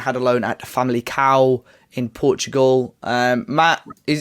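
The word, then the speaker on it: Famalicão: so yeah it's a family cow apparently family cow family cow that's how you say it yeah someone told your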